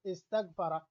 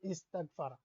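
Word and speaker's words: استغفر: So you have a word like istaghfara, it is actually seen ta gain like that. Alif is not there, but you can pronounce with a skun in the beginning of Arabic language.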